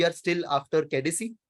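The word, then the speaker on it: Caicedo: हम चुकुएमेका को लेके आ गए, एंड वी are still after केडिसी, that is हाउ you pronounce that name, हम उनके पीछे हैं।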